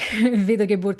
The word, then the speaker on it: Wiedergeburt: It's not the exact same words, like Wiedergeburt is with IE and Wieder is like with a double D, but the pronunciation, like the sound of it sounds very, very similar.